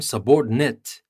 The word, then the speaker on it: subordinate: of the noun but if you want to use it as a verb you change the stress and you say subordinate so in the first one the noun subordinate and as a verb